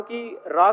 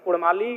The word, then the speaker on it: काड़ा: कर लीजिए कि उ अगर उच्चारण भी करेंगे ना तो कारा कहेंगे भेरा कहेंगे भेड़ा नहीं बोल पाएंगे तो कोई जो भाषा